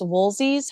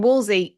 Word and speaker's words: Wolsey: Thomas Wolsey's home.